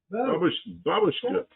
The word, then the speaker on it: babushka: We don't need babushka. And then and the accent's on the first syllable. I know Americans say babushka babushka. And that's a grandmother in Russian.